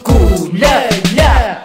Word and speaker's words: KULJELJE: 我们这个 KULJELJE 就是丁记的族名，这个全部拼起来就念作古乐乐。